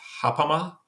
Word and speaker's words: ghapama: And this is I'm sure I'm going to mispronounce it, but I believe it's ghapama.